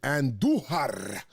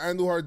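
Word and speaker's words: Andújar: And it's really nice and refreshing when you got a guy like Andujar, you roll your R's for, and he is hitting.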